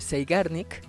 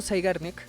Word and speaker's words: Zeigarnik: se escribe seanic Perdón zeigarnik pero me parece que la pronunciación Debería ser saarn como como en Einstein este son alemanes así que bueno este Entonces el efecto zarnik eh dice que cuando